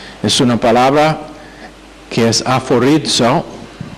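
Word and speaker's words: aphorizo: Es una palabra que es aforizo, A-P-H, que se pronuncia F, como el F, A-P-H-O-R-I-Z-O, aforizo.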